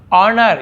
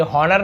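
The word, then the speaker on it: honour: ऑनर, ये हॉनर नहीं पढ़ेंगे, एच यहाँ पे साइलेंट होता है लेकिन हम लिखते जरूर हैं, पढ़ेंगे कि भी ऑनर, ऑनर यानी सम्मान, इज्जत मिलना।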